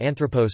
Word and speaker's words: άνθρωπος: the third from last syllable if the last syllable was long, e.g. anthropos, man, nom.